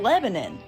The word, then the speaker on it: Lebanon: it's milon milan oh you know like the country lebanon no it's goddamn lebanon oh you know lafayette